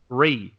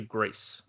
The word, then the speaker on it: GRIS: I actually used to say GRIS, the French pronunciation. Like with an I S, thought it was little thing, a little hat on. But it's actually GRIS.